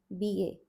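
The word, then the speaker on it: ब: Going to the next letter now, we have B, B-A. Straight line, half a circle, cut in the middle, covered on the top like this. B-A, B, B. Pronounced using the lips. Non-aspirated letter. Next one is the aspirated B, which is B, B.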